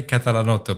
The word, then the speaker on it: Catalanotto: It's Catalanotto, but you did it very well.